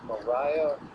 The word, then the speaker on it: maria: You pronounce the plural of the Mare as Maria or Maria.